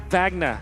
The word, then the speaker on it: Wagner: Mr Wagner is Wagner I was listening to your cast pronouncing it corre incorrectly say vagna vagna there you go we'll keep it a